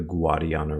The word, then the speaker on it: Guadiana: This river, which divides Spain from Portugal, is today called the Guadiana River, with the wa sound within gua, owing to the phonological drift that resulted from the Moorish invasion.